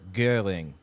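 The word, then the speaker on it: Göring: They Hitler on the left, Himmler, and then Gerbles and Goring on the right, or Gering, probably how it's pronounced. Guring is more accurate.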